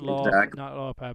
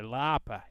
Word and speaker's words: Lauper: That's the correct way to say it. Cyndi Lauper. Yeah, not Lauper, but Lauper.